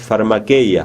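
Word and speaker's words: φαρμακεία: en el nuevo testamento busquen como se pronuncia en griego hechicería y van a ver que la palabra es pharma que ya pharma que ya es hechicería la hechicería moderna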